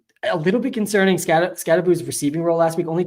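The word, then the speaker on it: Skattebo: Not scottabo. Scataboo.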